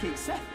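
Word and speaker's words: Cait Sith: Please tell me he pronounces his name. Kate Sith, fortune teller. Kate Sith!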